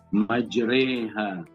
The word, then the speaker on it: مجريها: Dan Nuh berkata, naiklah kamu sekalian ke dalam bahtera ini dengan menyebut nama Allah, Bismillahi majreha wa mursaha. Di sini tulisannya majraha, tapi cara bacanya majreha.